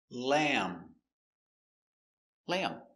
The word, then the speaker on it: lamb: And the B is silent. No lamb b. Finish with the m sound.